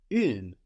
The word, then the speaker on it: une: And then une for the feminine, with the E on the end, giving us 2 syllables, really, because it should be une, although that E generally isn't pronounced in most dialects of French, so we get une.